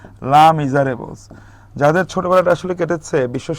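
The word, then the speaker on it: Les Misérables: হ্যাঁ, হু ইজ the author of লেস মিজারেবলস, এটাকে আসলে বলা হয় লা, এটা উচ্চারণটা হবে লয়াকার লা, লা মিজারেবলস।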